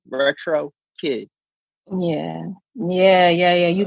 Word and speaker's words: Retro Kiq: even even when performing oh retro kick i have to get on the microphone yeah it's retro kid drop drop wait flip